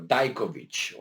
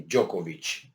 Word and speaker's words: Djokovic: here, and that is Novak Djokovic or Dajkovic, or however these guys want to pronounce it. I heard it both ways, and probably I would say Djokovic.